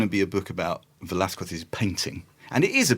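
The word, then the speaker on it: Velázquez: But Velathqu is uneasy in any version, properly Hispanicized or not Hispanicized.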